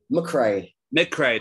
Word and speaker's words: MacRae: MacRae. MacRae. It's English from the Scottish, but it's Mook, even though it is spelled Mac.